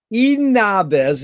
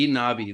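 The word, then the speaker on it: Eden Ahbez: But Eden Abez is how I pronounce his name. How do you pronounce it? Abbey, Eden Abbey. The Z is silent.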